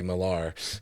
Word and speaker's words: Millar: I know people overpronounce it, so I Yeah. think he prefers Miller, but a lot of people say Millar.